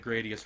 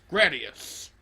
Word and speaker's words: Gradius: Also, I like that you pronounce it with a short A.